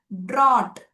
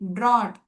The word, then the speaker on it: drought: Drought, nodili, drought, GH appears to be silent and it is coming immediately after the vowel letter. Drought, it is silent and appearing after a vowel letter.